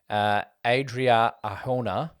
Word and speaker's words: Adria Arjona: I did say Mira Sorvino, but it went to Adria Arjona from Morbius. Good pronunciation.